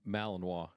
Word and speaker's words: Malinois: I'm not real good at pronouncing names, but the one that looks sort of like a German Shepherd, is it Malinois? Malinois.